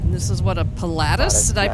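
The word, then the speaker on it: Pilatus: And this is what a Palatus. Did I pronounce that right? Yeah, Platus.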